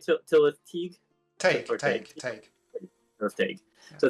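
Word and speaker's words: Tylwyth Teg: Tillis Tig.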